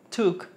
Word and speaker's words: took: después tenemos Take took doble o que hace una u took taken cuando antecede perdón